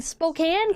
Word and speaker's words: Spokane: lest way you give a man props for pronouncing Spokane correct. 6:30 in the morning. Did he? I didn't even notice. Finds herself face to face with the int. You've never been to Spokane before.